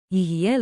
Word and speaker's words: יהיה: Tiny pronunciation tip, say it like a smooth free beat, yihye.